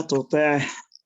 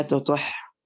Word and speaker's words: تطع: لا تطع، فتنطق ممكن بالخطأ لا تطح.